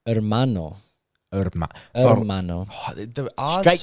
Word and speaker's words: hermano: I don't want to go against Maddie, but hermano does have a H at the start. But all the words with H's at the start of them, the H is silent. So it's, ¿cómo estás, hermano? You go straight to the vowel.